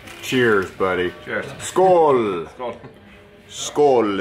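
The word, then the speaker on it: skål: buddy cheers sko SK skull is how you say cheers in Swedish I love the sound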